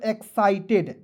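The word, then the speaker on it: excited: ठीक है, यदि दोस्तों ED नहीं रहता तो इसे पढ़ते हैं एक्साइट, लेकिन ED जुड़ गया दोस्तों, इसे पढ़ेंगे एक्साइटेड। एक एक वर्ड का उच्चारण करके दोस्तों मैं यहाँ पे लिख रहा हूँ, बिल्कुल ध्यान से देखिएगा। EX पढ़ेंगे एक्स, एक्स पढ़ लेंगे। क्लियर, CITED तो पढ़ेंगे एक्साइटेड, एक्साइटेड।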